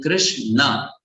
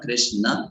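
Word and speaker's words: Kṛṣṇa: So in Krishna, it is not Krishna, it is Krishna. That sound should come, ana, right?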